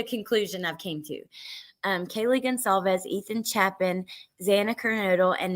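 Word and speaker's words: Goncalves: person who killed Kaylee Gonsalves, that's how you say that. The C is pronounced like an S. Kaylee Gonsalves. That's what that's the conclusion I've came to. Kaylee Gonsalves, Ethan Chapin, Xana Kernodle,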